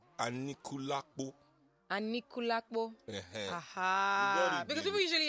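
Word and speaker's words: Anikulapo: Seun, please, you need to teach me how to pronounce the Anikulakpo. Is it Anikulakpo or Anikulakpo? It's Anikulakpo.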